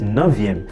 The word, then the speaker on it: neuvième: in front is enough so night is navien so you just change the f2v and you have Navia